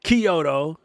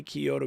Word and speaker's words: Kyoto: Like I can understand it' be one thing if you say I can understand why you want to say Kyoto because the KY looks like key but it's not.